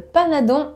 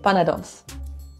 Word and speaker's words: panadons: It's not un panadon aux épinards, it's a panadon, well, plural, panadons. Un panado.